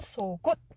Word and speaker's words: 속옷: 규칙상 기억이 뒤로 넘어가고 시옷 받침은 디귿처럼 소리가 나서 속옷, 굿드가 아니고 속옷 이렇게 안으로 잡는 소리로 발음하셔야 돼요. 속옷.